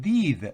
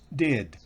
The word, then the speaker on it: did: En el caso del pasado, did, que es el auxiliar, no es did, no, did, es una I corta.